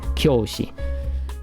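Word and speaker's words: 教師: Make sure, if I really stress that u so you can hear it, it's like kyoushi.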